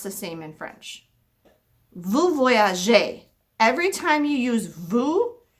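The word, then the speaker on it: voyages: voyage with an s whenever you use two the verb is always going to have an s to voyage but you don't say the s it still sounds just like this one il or el voyage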